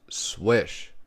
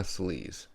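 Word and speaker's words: Slysz: is the spyderco swish buoy designed by martin swish which is actually spelled like sleaze but you know hey it's pronounced swish so don't be calling the mana sleaze we have a belt satin finish m390 blade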